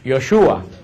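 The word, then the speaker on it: Yeshua: El nombre de Jesús, que nosotros decimos Jesús, en hebreo no se pronuncia Jesús, en hebreo se pronuncia Yoshua.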